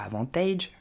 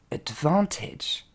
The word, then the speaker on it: advantage: on commence avec avantage il ne faudra pas dire avantage ok mais advantage encore une fois devant